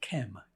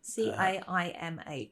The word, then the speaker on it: Caimh: Is it Kem MacDonald? I think it's pronounced Kev. I'm not sure. An Irishman. Caimh.